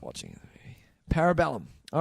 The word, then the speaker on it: Parabellum: Parabellum. All right. John Wick 3, Tice. It's pronounced Parabellum. Parabellum. That might be actually how it is if it's Latin.